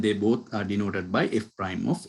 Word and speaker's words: f prime: By the way, the slope of f of x at x is equal to a is denoted by f prime of a. We pronounce this as f prime.